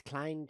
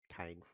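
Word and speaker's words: Keine: Chess Klein Chance wants to know if he can join that game with his app. I don't know, Chess Klein Kine. Why are you named Klein? There's no Klein in there.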